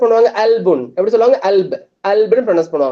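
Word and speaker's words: قلب: அவங்க எப்படி ப்ரொனவுன்ஸ் பண்ணுவாங்க? அல்புன்.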